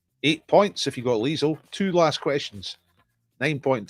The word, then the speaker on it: Liesl: name zero seconds left she's called liesl rhymes with diesel now you're sucking diesel eight points if you've got liesel two last questions nine